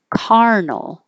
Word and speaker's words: carnal: Carnal. So the vowel is different here. 35, cur, like her, colonel, and 36, car, like car, carnal.